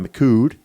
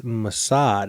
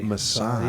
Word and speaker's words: Mossad: Actually, it's I mispronounced that. I was corrected. It's Mossad, actually. Mossad. Yeah. So I was wrong on that one. I had a correction, And I'm like, I said, Makud? No, it's Masad.